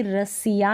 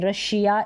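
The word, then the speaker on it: Russia: अब यहाँ पर भी डबल एस के बाद में आई ए है, तो हम कभी रसिया नहीं बोलते हैं, रशिया इसलिए बोलते हैं।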